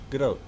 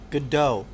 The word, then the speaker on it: Gadot: Gadot. Godot. Gadot. You don't pronounce the T.